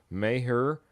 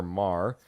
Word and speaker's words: Maher: Don't know if we have our final kicker, but we have Brett, and I've heard two different pronunciations, so I'll give you them both. Maher or Mar, former Cowboys, you may